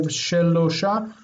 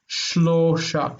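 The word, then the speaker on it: שלושה: Remember the consonant clusters. So instead of shnaim, but shnaim. Shnaim. Shnaim. Shnaim. Shnaim, and instead of shelosha, shlosha.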